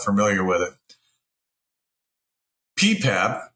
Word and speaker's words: PPAP: not familiar with it ppap is how it's pronounced is essentially a manufacturing